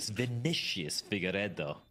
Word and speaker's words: Vinicius Figueiredo: Even attempt to Vinicius Figueiredo. Gotta roll your R's, Vince.